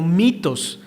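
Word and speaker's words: μῦθος: puede traducir como cuentos la palabra en el griego se puede pronunciar como mitos de donde sale nuestra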